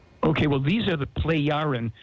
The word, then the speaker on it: Plejaren: Okay, well, these are the Plejaren, spelled P-L-E-J. The J is pronounced like a Y. Okay. P-L-E-J-A-R-E-N. Plejaren people.